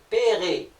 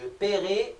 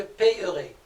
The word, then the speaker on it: paierai: Exemple, payer avec YER devient je paierai. le I remplace le Y, et le E, qui est là, on l'a marqué en rouge, il ne se prononce pas, il est muet. On dira je paierai et non je payerai.